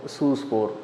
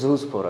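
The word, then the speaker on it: zoospore: அதில் கொனிடியா, ஸ்பொராஞ்சியோஃபோர், சூஸ்போர் அப்படின்னு சொல்லிட்டு ஜூஸ்போர், அது ஜெட்னு வரணும், அது ஜூஸ்போர்னு நீங்கள் அதை ப்ரொனவுன்ஸ் பண்ணணும்.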